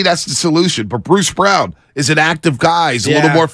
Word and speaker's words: Braun: They say it's spelled Braun, but they call him Brown.